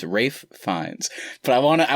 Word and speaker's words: Ralph: not in the wrong everybody gets it wrong it's a wraith finds it's it's spelled ralph but his name is rafe fines but i wanna